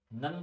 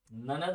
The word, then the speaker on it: ननद: ननद, हाँ, हमारे यहाँ बुंदेली में नंद बोलते हैं। क्या बोलते हैं? नंद। जी उनकी नंद आए, है ना। तो नदद हो, सॉरी, ननद होता है।